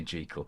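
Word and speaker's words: Jekyll: and Mr Hyde now J is the actual Scottish pronunciation so don't comment on that because every time I say gel I get all these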